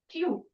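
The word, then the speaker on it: Tiw: Norse god Twi. Tew. It is pronounced as like this, Tew.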